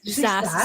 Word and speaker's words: SaaS: SaaS, software as a service.